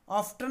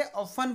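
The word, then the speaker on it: often: है अक्सर या हमेशा, और इसमें जो टी होता है, जो टी हमारा दिया गया है, वो टी क्या होता है, वो साइलेंट होता है, उसको पढ़ा नहीं जाता है। ठीक है, तो इसलिए ऑफन, ठीक है, ऑफ्टन नहीं पढ़ेंगे, ऑफन पढ़ेंगे।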